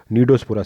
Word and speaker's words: Cnidospora: जो तो हमारे पास हमारे तीसरी जो हमारी सब फाइलम आ गया नीडोस्पोरा, सी साइलेंट है इसमें, NCNIDOSPORA, नीडोस्पोरा।